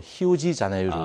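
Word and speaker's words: Rio de Janeiro: 우리가 이제 흔히 이제 리우데자네이루, 이제 1월의 강이라는 그런 뜻인데요. 그 브라질 말로는 그게 R이 이제 히읗 발음이 나가지고 히우지자네이루 이렇게 발음합니다.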